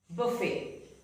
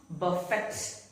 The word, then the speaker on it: buffet: Buffet. It is not buffet, but it is pronounced as buffet.